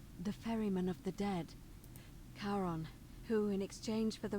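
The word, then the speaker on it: Charon: it's just as you described it only your pronunciation is a little off the name you heard wasn't Karen it was c h a r o n as karon the Fairman of the Dead karon who in exchange for the right coin helps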